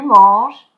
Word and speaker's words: manges: So, don't pronounce the E, je mange, don't pronounce the ES, tu manges, il mange, elle mange, on mange.